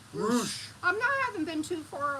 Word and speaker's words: Roche: Roosh. Roosh.